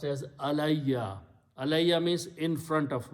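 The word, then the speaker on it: عَلَيَّ: So when you read them, Allah and Ya together, it is pronounced as Alayya.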